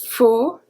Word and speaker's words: faut: Il faut. AU always make the sound of an open O. O, a soft O.